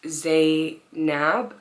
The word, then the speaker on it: Zab: how to pronounce it so it's Zab like with a B in the end um it is an Arabic name how old am I